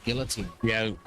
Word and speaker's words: guillotine: Say, I've heard guillotine. Yeah, Americans tend to pronounce the L's. I know. They realize it's a French word and you're not supposed to. It's guillotine. Oh, I know a few that do.